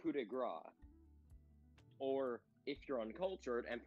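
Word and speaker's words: coup de grâce: There was this thing called a coup de grace. Or, if you're uncultured and pronounce things as American as possible, a coup de grace.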